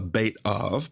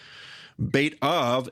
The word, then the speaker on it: Beit Av: Your father's house, which is also known as a Beit Av, by the way, Beit Av, house of the father, Beit Av.